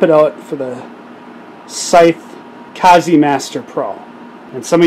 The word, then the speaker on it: Kaze: and we're gonna swap it out for the scythe kazi master pro and some of you wondering about the pronunciation yes it's kazi like kamikaze and just an update